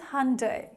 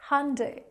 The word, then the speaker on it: Hyundai: But yes, the correct pronunciation is Hyundai, Hyundai.